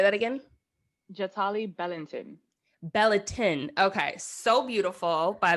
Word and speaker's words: Bellanton: Jatali Bellanton.